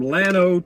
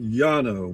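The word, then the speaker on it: Llano: Good morning from Lano, Texas. Double L O Lo. In Spanish, it would be pronounced Yano.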